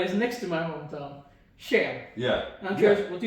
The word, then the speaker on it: Skien: the one that is next to my hometown, Shen. Yeah. I'm curious, what do you know about Shen? Uh, I know it's now pronounced and not ski.